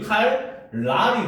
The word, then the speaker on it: 칼날: 알겠습니까 자 그다음 봅시다 칼날이라고 썼지만 얘는 발음이 어떻게 돼 칼 칼 칼 그렇지 칼 랄이 되죠 자 어떤 변화가 일어났습니까 어 그지 리로 바뀌었잖아 그지 그러면 얘도 이제 우리가 옆에 적어 놓으면 어때 리을 더하기 리은이 뭘로 변했다 리더 리로